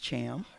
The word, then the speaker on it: Thiam: It's pronounced Cham. I know you don't know that, but that's okay.